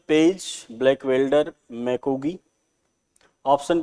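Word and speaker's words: McGee: बार पूछा जाता है एम सी जी डबल ई मैकगी बोल कहा जाता है इनको चादरी बाढ़ सिद्धांत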